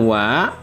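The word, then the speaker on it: は: Ini huruf hiragana ini sebenarnya kalau dibaca secara dia berdiri sendiri artinya dibacanya ha. Tetapi karena di sini merupakan partikel dibacanya bukan ha tapi wa.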